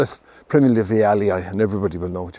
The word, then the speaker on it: vialii: And he brought them back to Europe, and in honor of him, the plant was called the species name was called vialii. And when you pronounce the name, the two eyes at the end are e i, so viali.